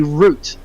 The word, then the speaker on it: route: payload you've actually got a root or a route as the Americans but pronounce it and you can